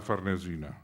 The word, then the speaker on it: Farnesina: 10 años después, y a la Villa Farnesina, lo pronuncio a la italiana.